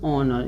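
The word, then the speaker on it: honor: इसको क्या पढ़ना है, ऑनर। इसको क्या पढ़ना है, ऑनर। यच को हॉनर मत नहीं पढ़ना है, इसको क्या पढ़ना है, ऑनर पढ़ना है, यानी यच हमेशा ओ से पहले साइलेंट होता है।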